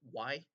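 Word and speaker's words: Yi: It's Y Home or Y, and it's spelled Y-I.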